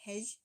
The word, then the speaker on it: hej: So je is how we would say it. So like hej, hey, okay, so it's like a yeah.